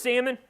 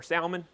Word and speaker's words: Salmon: Who is Salmon? Or Salmon, depends on which way you want to pronounce it.